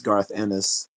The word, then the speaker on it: Garth Ennis: Oh, and I said the creator's name wrong. It's not. His name is Garth Ennis.